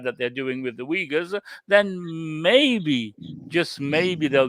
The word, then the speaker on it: Uyghurs: I'll have to learn to pronounce Uyghurs. Uyghurs, yes.